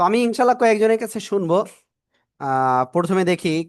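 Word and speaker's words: ش: আমরা শা শা শব্দ করে আমরা এই অক্ষরটা উচ্চারণ করব। কেমন উচ্চারণ করব বললাম? শা শা শব্দ করে আমরা এই অক্ষরটা উচ্চারণ করব। শিন, তিন আলিফ টেনে পড়বো।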